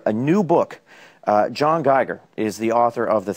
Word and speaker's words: Geiger: joins us this morning I pronounced your name right did I yes you did okay gooder but it's